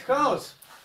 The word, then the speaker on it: хаос: Так и здесь. Хаос. Хаос употребляется как раз в данном случае у Державина. Правильно, хаос. Мифологическое, евангельское, библейское – хаос.